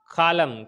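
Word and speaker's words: column: silent हो जाता है अगर किसी वर्ड के अंदर एक साथ एम एन ए जाए तो एन वहां पर साइलेंट हो जाता है कलम कलम के अंदर क्या हो गया एन साइलेंट हो गया इसी तरह इसी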